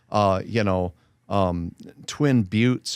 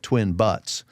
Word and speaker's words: Twin Buttes: And there isn't a faster way to lose credibility with an audience if you live in, Twin Buttes and you call it Twin Butts.